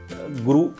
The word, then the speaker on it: गुरु: तो मसलन गुरु ये छोटे ऊ की मात्रा है, अगर हम इसको रू को बड़ा बोलेंगे तो जैसे शुरू में रू बड़ा आता है तो इसको बोलेंगे हम शुरू।